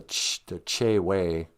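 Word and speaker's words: Chewe: in cass lake but they spell it c-h-e-w-e and in ojibwe e's sound like a so it should be called the ch way and i think they're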